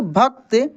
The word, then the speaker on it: भक्त: लिखा है भक्त देखिए भक्त क को काफी तेजी से से हम लोग पढ़ रहे हैं उसका क्विकली उच्चारण होता है क्योंकि क क्या है आधा है तो कैसे पढ़ेंगे भक्त थे तो उस मंदिर